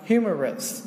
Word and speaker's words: humorous: Và đây ví dụ cái từ này mình sẽ đọc là humorous đúng không? Humorous, trọng âm rơi vào đầu này.